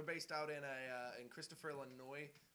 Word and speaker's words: Illinois: Okay, it's Illinois. The S is silent.